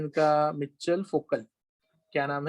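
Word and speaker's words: Michel Foucault: मिचेल फोकल. क्या नाम है? मिचेल फोकल. ओके, फोकल्ट करके नहीं बोलते, वो जो टी साइलेंट हो जाना चाहिए.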